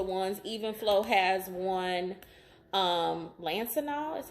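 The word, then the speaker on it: Lansinoh: some really popular ones, Even Flow has one, Lancinol is how you pronounce it.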